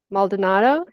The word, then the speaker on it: Maldonado: So welcome to my podcast, and here I have with me David Maldonado. Is that how you pronounce it? That is correct.